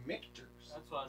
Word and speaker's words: Michter's: It's actually Michner's because it's MICHTER. Oh wow. There's no N in the middle of it. No, So I it's say actually I say Michter's.